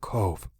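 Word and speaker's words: Cobh: a small town by the name of Cove, and which in Irish is spelled C-O-B-H, I believe.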